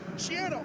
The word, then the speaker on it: Schiano: Schiano rhymes with piano.